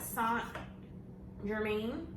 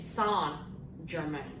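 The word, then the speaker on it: St-Germain: I have it on this because I wanted to know a little bit about Saint Germain. It's like Saint Laurent.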